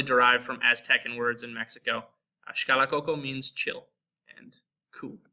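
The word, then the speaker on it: México: The second is pronounced like the letter H, and it's reserved for certain words that are derived from them. So we have like Mexico, mexicano.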